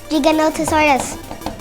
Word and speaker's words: Giganotosaurus: You pronounce the name Giganotosaurus.